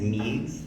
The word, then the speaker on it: Meegs: Hello, my name is Meegs. That's spelled M-E-E-G-S.